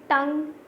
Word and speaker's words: tongue: In first one G is silent, gnat, gnat, no, and then you will see tongue, UE is silent, chalk, L is silent, whistle, T is silent.